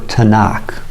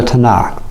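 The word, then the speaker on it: תנ״ך: it and cough now tav noon cough has the sound of a t in english noon sounds like an n in kath sounds like a k the three letters for the word tanakh three hebrew letters for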